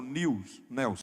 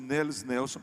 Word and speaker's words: Nels Nelson: Alguns chamam Nils Nelson. Eu já ouvi mais a pronúncia de Nels Nelson, que é mais aproximada aqui do português, inclusive com familiares dele quem nós conversamos. Bem, o estado do Maranhão